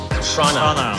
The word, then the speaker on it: Toronto: You're supposed to slur it into one syllable. It's Toronto. Toronto.